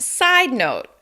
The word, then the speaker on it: side note: side note is pronounced side note side note with stress on side and unstressed on note side note side note